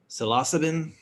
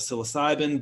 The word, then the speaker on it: psilocybin: I think it's true, but the correct pronunciation is psilocybin instead of psilocybin.